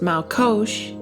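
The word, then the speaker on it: מלקוש: Blue Letter Bible, and that Hebrew word is pronounced Malkosh, and it's from the Strong's H4456, and it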